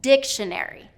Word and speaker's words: dictionary: stress suggestions suggestions okay another one dictionary he was doing dictionary dictionary he was doing second syllable stress and it should be first syllable dictionary dictionary a couple more